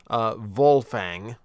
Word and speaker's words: Wolfang: So for starters, it's Wolfang, or in this version, it is meant to be pronounced Wolfang, going Germanic with the pronunciation.